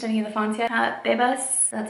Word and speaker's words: Bebas: Bebas, that's how you say it, is a cool one too.